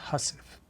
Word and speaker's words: housewife: 143 from here and housewife is pronounced hussif which is how I'll pronounce it 143 lo as a